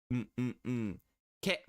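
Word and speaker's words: け: But definitely so, ke for keg is the best way to go about seeing that, really.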